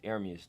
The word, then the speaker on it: Ermias: My real name, it means God will rise. It's ERMIAS though. That's how you say it. Oh, that's how you say ERMIAS? ERMIAS, yeah.